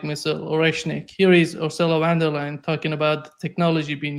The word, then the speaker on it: von der Leyen: It's really, I mean, how the EU was reduced to the likes of Ursula von der Leyen. Von der Leyen is the way you pronounce it in Germany.